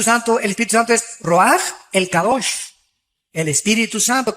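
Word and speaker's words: רוח: Se pronuncia roaj. Por ejemplo, cuando hablamos del Espíritu Santo, el Espíritu Santo es roaj, el cabosh, el Espíritu Santo.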